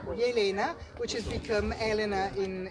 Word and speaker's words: Jelena: So Slavonia, and the original name of the church is come si pronuncia? Jelena. Jelena. Jelena, which has become Elena in Italian.